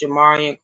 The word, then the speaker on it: Jamarian: I guess his name is Jamarian. I didn't know how to pronounce it. It's Jamarian Crosby.